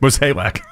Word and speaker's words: Mozeliak: all the guys that Mozeliak loves. That's how you say his last name. What is it? Mozeliak. Come on. I know, it's just me. It's the right way to say it.